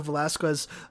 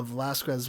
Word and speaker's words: Velazquez: pitches it to kendra velasquez uh monroe sorry i believe i've been saying those uh that last name wrong there so it's a velazquez monroe here but she pitches it